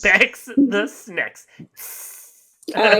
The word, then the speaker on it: Bex: It's like snake, but an X, so it rhymes. Bex the Snacks.